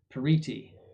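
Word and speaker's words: periti: So for example, the the bishops would typically bring their pariti, that's how you pronounce that, a partos, that means an expert.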